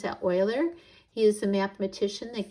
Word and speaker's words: Euler: a little historical note on Leonard Euler you pronounce that Euler he is a mathematician that gave us function